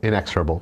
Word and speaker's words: inexorable: brand new Effect called inexorable inexorable inexorable I'm want to talk to the person on the BCG team that didn't just make that a two- syllable word yeah that's like that's